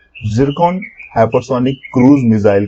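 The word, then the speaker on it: Zircon: वाली बात है दोस्तों, लेकिन इसे पढ़ते हैं जिरकॉन। ठीक है, जिरकॉन इसलिए मैंने आपको एक ब्रैकेट में मेंशन कर रखा है ताकि आप इसका सही तरीके से प्रोनाउंसिएशन कर पाए।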